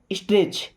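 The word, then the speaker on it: stretch: स्ट्रेच ये वाला टी यहां पे साइलेंट है ना?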